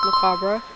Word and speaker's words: macabre: So it turns out I was right, it is pronounced macabre, and for those of you who don't know